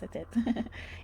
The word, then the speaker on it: Satet: They're like, no, it's Satet. And I'm very respectful, because I really like when people pronounce my name right for the first try.